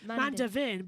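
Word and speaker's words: Mandeveen: Yeah, the pronunciation is actually Mandevin, but it's Mandevore as well.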